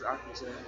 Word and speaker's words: Akuche: How you pronounce that last name? Akuche. It's Akuche. Akuche?